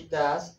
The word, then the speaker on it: does: She does the homework. La pronunciación es does. No es does. Does.